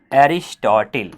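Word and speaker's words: Aristotle: एरिस्टोटिल। English में तो pronounce करते हैं एरिस्टोटिल, हिंदी में जिसे हम क्या पढ़ लेते हैं?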